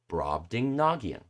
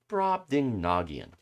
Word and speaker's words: Brobdingnagian: how to pronounce it do i need to go through it again okay uh rob ding nagian brobdingnagian brobdingnagian brobdingnagian backwards nygang nidbourb so